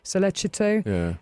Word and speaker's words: Sollecito: The Meredith's family, as well as the other families, the Knox family and Sollecito, is it the pronunciation? Sollecito.